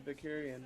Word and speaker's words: Vicarian: And then towards the end, you made mention of Captain Vicarian, right? Am I pronouncing that correctly? Yes.